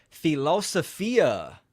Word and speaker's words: philosophia: cards real quick Banner philosophia which is the Greek pronunciation the love of wisdom